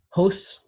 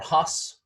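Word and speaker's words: ὅς: It's pronounced hos or hos.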